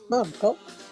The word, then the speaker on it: Margot: Flavia and Femminielle were basically there to confirm the story of Scarantino's relationship with Margot, accent on the second syllable, whose personal tragedy this trial had become.